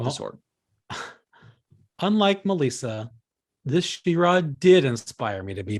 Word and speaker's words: She-Ra: there's a six however i got ryan to start saying shira yeah well i think that's what they called it she-ra i don't think it's whatever charade so uh question number